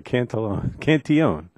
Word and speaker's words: Cantillon: Mark Cantillon. Did I pronounce it right? Oh, it's French. Okay, Cantillon.